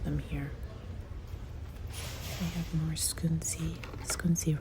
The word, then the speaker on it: Scunci: They have more scunci. Scunci, right, is the right pronunciation.